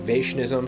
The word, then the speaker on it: Vaishnavism: And that's the technique used in Vaishnavism. I'm not exactly sure how to pronounce that. I imagine it's like Vishnuism is where that word comes from, but it's pronounced more like Vaishnavism.